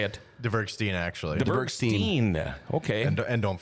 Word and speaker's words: Dvergsten: Dvergsten, actually.